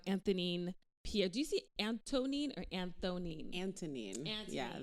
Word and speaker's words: Anthonine: Pier do you see anonine or anonine anonine an yeah the H is silent it's a h for